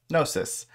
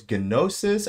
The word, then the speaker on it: Gnosis: more time gnosis so I didn't know if it was genosis I don't know if it was genosis so the g is silent so it is gnosis so the key takeaway